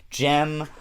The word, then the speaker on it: Gem: Gem rhymes with creme.